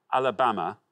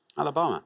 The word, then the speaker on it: Alabama: a white passenger on a bus in montgomery alabama first of december 1955.